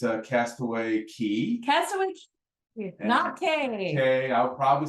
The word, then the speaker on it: Castaway Cay: Line owns it's a Castaway Key Castaway okay I'll probably say k it's they spell it c-a-y and it always throws me off but it's key so your dork tip